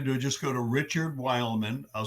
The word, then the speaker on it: Weylman: best way to do just go to Richard Wildman I'll spell it for you w y l m an